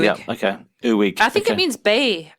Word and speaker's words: Uig: Yeah, UIG. Not egg, as I called it. No, I did look it up and I did ask the locals, and it's Uig. Yeah, okay. Uig.